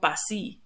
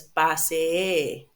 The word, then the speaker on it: pasee: And we have some cases here like pasee, double E is just a long E. Okay? When you have two S or two E's, it's just a long E. It doesn't become E. It's not pasi, it's pasee.